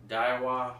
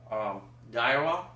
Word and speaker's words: Daiwa: Croix, Daiwa, I believe is how you pronounce their name, and some really, really good and expensive brands. Daiwa is one.